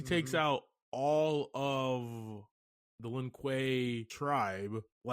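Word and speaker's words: Lin Kuei: I think he said for the Lin Quay. Linquay. Yeah, that sounds a lot better.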